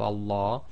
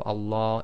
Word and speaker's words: Allah: and a fata so always remember the Lamb of Allah is always two lengths long so in conclusion we